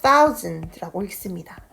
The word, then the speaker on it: thousand: 자, 아까 제가 단어장에서 언급하지는 않았지만 우리가 1000이라는 단위는요, thousand라고 읽습니다. 자, 지금 send처럼 보일 수 있는데 이거는 사실 send가 아니라 znd라는 발음이에요. 그래서 thousand 라고 하시면 되겠습니다. 또 드는 맨 뒤에 있는 단어는 너무 드 이렇게 읽으시기보다 약간 흘려서 약하게 발음을 해주면 됩니다.